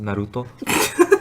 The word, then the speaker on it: Naruto: Correctly pronounced Naruto.